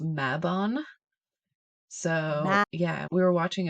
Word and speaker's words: Mabon: it which is well let's talk about the pronunciation here so I've always heard it called mabon which is the fall equinox Autumn Equinox here